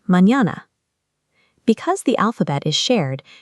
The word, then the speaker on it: mañana: The ñ has a tilde on top and makes a sound like the English n y. You hear it in common words like mañana.